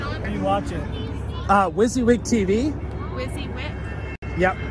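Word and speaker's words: WYSIWYG: are you watching uh wizzy wig tv yeah what you see is what you get is pronounced wizzy wig tv okay time to get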